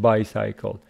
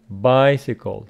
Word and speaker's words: bicycle: parts by and cycle but we don't pronounce it by cycle bicycle so here bicycle means